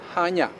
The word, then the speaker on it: Chania: sealed spelled with i c-h-a-n-i-a so it makes perfect sense that you say chania which simply confuses everyone the c is silent and the proper way to say the word is hanya hanya has a remarkable